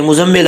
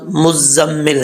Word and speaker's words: مزمل: بھی غلط بولتے ہیں، کہتے ہیں کہ یہ مزمل آ رہا ہے، مزمل آ رہا ہے، لیکن عربی کا لفظ جو ہے وہ لفظ مزمل ہے. ٹھیک ہے، تو کیسے پڑھیں گے اس کو؟ ہجے کر کے میں آپ کو بتاتا ہوں. میم زا پیش، مز، زا میم زبر زم، مزم میم زیر می، مزمی لام پشلو، مزملو.